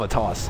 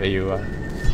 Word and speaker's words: Atos: Some people say Rod of a Toss. How do you feel about that? No, I call it Rod of AUI. Rod of AUI. That's a pretty good pronunciation too.